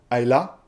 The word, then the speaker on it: Isla: On se retrouve donc avec Aa. C'est isla mais ça se prononce A.